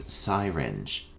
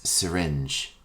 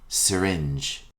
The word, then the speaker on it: syringe: before your meal our next term is commonly mispronounced as siring the correct pronunciation is syringe repeat after me syringe a syringe is a medical instrument used to